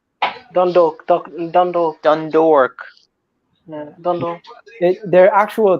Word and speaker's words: Dundalk: You just say Dun and then dork. Dundalk.